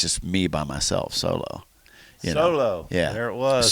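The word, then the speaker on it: SoloW: But everybody always pronounces it wrong. They go solo. I'm like, no, that's a grunge band. Solo. As soon as I hear it, it's like solo, Han Solo.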